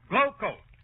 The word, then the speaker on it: Glo-Coat: And GLO-COAT is pronounced Glowcoat.